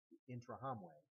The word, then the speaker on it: Interahamwe: city of kagali the interahamwe and you'll see that word interahamwe on your graphic organizer uh it's spelled it in in r a m we which means those who strike as one intra hamway an anti-tutsi Youth Organization